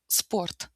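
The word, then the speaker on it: спорт: em palavra esporte, ah, em russo essa palavra começa com s, ou seja, não tem um e no início, então a gente pronuncia sport, sport e de novo t mudo, né?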